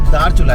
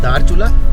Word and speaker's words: धारचूला: हाँ, हिमांशु जी बता रहे हैं ये धारचूला है, DH अगर इंग्लिश में हम लोग स्पेल करें, वो धारचूला DA, ये DHA वो DA, ऐसा करके प्रोनाउंस करते हैं धारचूला, और ये धारचूला।